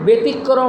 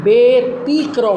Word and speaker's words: ব্যতিক্রম: না হবে বেতার হবে আবার দেখ ব্যতিক্রম বর পরে জফলা আছে তারপরে রসীকার আছে এ কারণে ব্যতিক্রম হবে না বেতিক্রম হবে তাহলে আমরা আরো সুন্দরভাবে